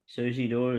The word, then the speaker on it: Suzidor: race 8, number 10, Suzidor or Suzidor. I don't know how you actually pronounce that. Suzidor is the way it's pronounced.